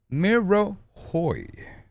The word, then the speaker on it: M'Rohoj: still alive the the now we know how to pronounce it it's it's the me Miro Hoy there's no J pronunciation it's just a Hoy so these kids I